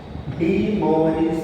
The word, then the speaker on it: De Moivre: Hence, De Moivre's theorem. Here, I is silent.